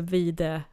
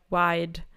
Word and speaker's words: vide: And vide, wide, but it's with a single E. Yeah, I think people can understand that it should be pronounced vide. It's vide, vide. It sounds like you could figure it out in English as well. You don't have to say it wide, vide.